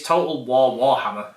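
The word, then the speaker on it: Total War: Warhammer: Total War Warhammer or Total Warhammer? It's Total Warhammer. I've always said it wrong then.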